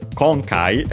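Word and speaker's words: 今回: Then after that we have uh concai again we have seen it multiple times. Uh it means this time accent on the first syllable.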